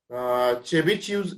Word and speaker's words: Chebyshev: Type जो आहे तो चेबिशिव्ह इनइक्वॅलिटी. आता चेबिशिव्ह इनइक्वॅलिटीचं स्पेलिंग पहिल्यांदा टी आहे, पण उच्चार करताना त्याचा चेबिशेव्ह किंवा चेबिशेव्ह पण म्हणतात काही जण. सो चेबिशेव्ह इनइक्वॅलिटी असं आपण म्हणायचं आहे.